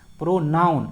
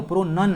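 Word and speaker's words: pronunciation: इक्रो में लगाता है प्रोनाउन। अरे भाई नहीं, प्रोनाउन नहीं है वो, प्रोनन है।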